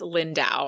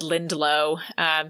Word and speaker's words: Lindau: book so I believe I also mispronounce lindau I said lindelo my bad I've always